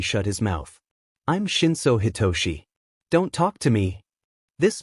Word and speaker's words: Hitoshi: Is your name pronounced like Hitoshi or Hidetsuka? The other boy blinked a few times, staring back at Izuku hard like he was trying to figure out a motive, before pointing at the first pronunciation.